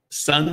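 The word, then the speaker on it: Son: Sun Sewers, S-O-N, in Gulf Shores, Alabama.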